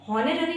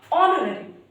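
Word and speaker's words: honorary: इसी तरह से गाइस ऑनररी, यहाँ पर भी गाइस हम इसको हॉनररी नहीं पढ़ेंगे, जो हॉनररी है वो हमारा रॉन्ग हो जाएगा। सही प्रोनाउंसिएशन होगा इसका ऑनररी यानी कि अवैतनिक।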